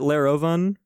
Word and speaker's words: Lerovun: syllables it was Lair uh so and I pronounce it laroven uh I'm pretty sure with like an umla